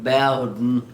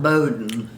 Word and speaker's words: Bowden: and he kept saying my name is b-o-w-d-e bowden not bowdoin still saying it and